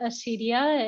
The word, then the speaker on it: acedia: Just like an example is I learned about the vice of acedia. Some people pronounce it acedia, and it means like a kind of sloth.